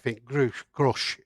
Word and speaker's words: Grusch: I think Grusch is how it's pronounced, apparently.